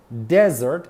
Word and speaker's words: desert: ئەبێتە بیابان هەمان سپێڵینە بەس pronunciationەکەی فەرقی هەیە dessert شیرینی desert بیابان desert بیابان باشە ئێستا با ئەم